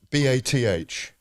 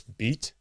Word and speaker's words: Bath: What about B-A-T-H? B-A-T-H. I mean, now I know it's beat. No, B-A-T-H. Bet. No, B-A-T-H. B-A-T. Bath. Oh, Bath. That's how I you even said it right.